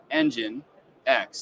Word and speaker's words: nginx: fact that it is if you split it it's engine X so I kind of